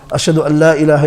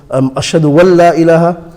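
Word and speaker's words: أشهد أن لا إله: People pronounce a noon, where is a idgham there. When idgham happens in the Arabic, when you read Quran, the noon is not pronounced. So you read it ashhadu Allah, ashhadu an la ilaha illallah. The noon idgham is with a lam.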